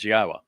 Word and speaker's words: Yahweh: Then after that introduction begins, Yahwa, which is the proper pronunciation of God's one and only name as directed by his Torah teaching regarding our higher existence and our shalom restoration.